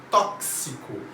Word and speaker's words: tóxico: o correto esses são x tem som de ks é tóxico ele tem que ter